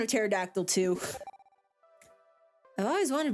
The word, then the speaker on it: pterodactyl: So there's Brontosaurus, pterodactyl, or pterodactyl, if you want to be annoying and pronounce the first P, or a T-Rex.